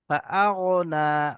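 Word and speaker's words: فأغنى: ফাআগনা, গয়েন উচ্চারণ করার সময় মুখটা গোল হয়ে যাবে।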